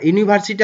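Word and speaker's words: university: হচ্ছে নাউন মনে রাখবা ইউনিভার্সিটি হচ্ছে নাউন আর এই নাউনের প্রথম অক্ষরটি ইউ এর মতন উচ্চারণ হয়েছে ইউ ঠিক আছে এই কারণে কিন্তু এখানে আমরা এ বসালাম এই ইউনিভার্সিটির প্রথম অক্ষরটি ইউ আর ইউটা উচ্চারিত হয়েছে ইউ এর মত ইউ ঠিক আছে এ কারণে আমরা এখানে কি বসালাম এ বসালাম তারপরে দেখো দা কাউ ইজ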